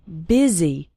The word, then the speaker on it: busy: in fast spoken English the word busy is pronounced with an i sound busy and the word and